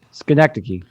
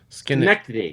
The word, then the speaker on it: Schenectady: We can talk about it a little bit more if you want to, but that's how do we pronounce that again, Nick? Schenectady. Schenectady.